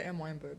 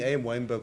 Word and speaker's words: Am Weinberg: is it is it is it pronounced M Weinberg or a m Weinberg I would just say m weberg m Weinberg okay yeah yeah okay that also sounds better okay I've been saying am weberg for for for films